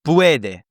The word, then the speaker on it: puede: So puede, right?